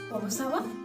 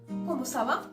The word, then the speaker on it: comment ça va: Then, second I asked, comment ça va? You notice that intonation? Ça va? Comment ça va?